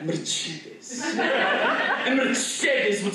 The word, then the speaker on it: Mercedes: um Mercedes no but I definitely pronounce of the European way like Mercedes and Mercedes would say